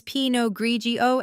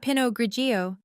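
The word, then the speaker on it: pinot grigio: It's pog grigio Emily, not pinogio.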